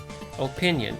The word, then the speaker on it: opinion: Opinion. Yeah, okay, I guess that's... Yeah, opinion works, but the emphasis is on the second syllable, so that's tricky to fit well into a song.